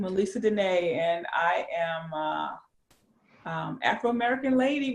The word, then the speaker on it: Melessa Denee: And that's my real name, Melessa Denee.